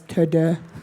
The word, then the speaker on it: TeuxDeux: He's like, how would the French pronounce this? So that's why it's TeuxDeux.